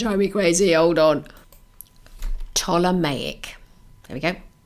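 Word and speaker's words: Ptolemaic: it's going to try me crazy hold on toic there we go toic and it's spelled p t o l e m a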